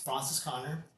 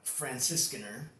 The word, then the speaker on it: Franziskaner: It's Francis Connor, but the proper way to say the name is called. No, Twist it off? no, my boy. Hey, hold on. So a proper way of pronouncing it's Franziskaner, and it's a Weiss.